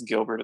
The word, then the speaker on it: Guilbert: My first name is Stephen, and my last name is Gilbert. It's spelled a little bit weird.